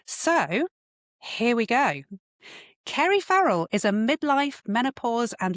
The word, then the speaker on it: Farrell: How do I pronounce It's your name, Farrell.